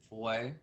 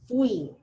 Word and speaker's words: fui: Is it foy? Uh-huh, it is almost that. You're just mispronouncing it. You're probably spelling it right. So it's fui.